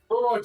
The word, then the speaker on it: Thorog: Thorog does not rhyme with Gorthos.